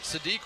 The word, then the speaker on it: Sadiq: I'm not sure I get the the physical comp to Kenyon Sadi, who is I mean, Sadique rhymes with freak for a reason.